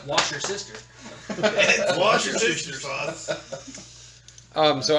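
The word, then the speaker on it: Worcestershire: I believe it's pronounced wash your sister.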